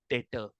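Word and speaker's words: debtor: डेटर। ठीक है, B silent.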